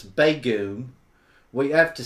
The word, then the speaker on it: Begum: it okay JD says it's not bagum it's bagum we have to say